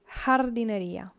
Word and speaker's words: jardinería: Remember, this J is pronounced as a H. Jardinería.